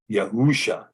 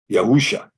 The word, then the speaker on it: Yahusha: Prophecy governing Issa but the name is yahusha as that as it is pronounced in the Quran yahusha yahusha and so this is this